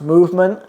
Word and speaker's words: MVMT: that is ridiculous so the brand is mvmt I guess it's pronounced movement and it's like the accessories